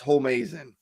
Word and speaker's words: Homeazin: Homie, as in it's pronounced Homeazin.